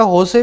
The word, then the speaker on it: Jose: कह रहे 2007 के अंदर ये कुटूर नाम का आदमी है ना, सिस्टर सैफी, और तीसरा होसे पुथरुकयाल, ये जोसे को होसे बोलते हैं, इसमें जे साइलेंट होता है ना।